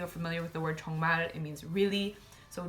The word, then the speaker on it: 정말: I'm sure a lot of you are familiar with the word 정말. It means really. So 정말, because the 릴 is the last letter in the word, it's pronounced as an L.